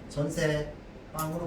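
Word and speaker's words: 전세방: 발음은 어떻게 해야 해? 발음은 전세 빵으로 발음하지.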